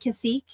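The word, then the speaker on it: Cacique: Is it Kashik? Like Cirque du Soleil, right?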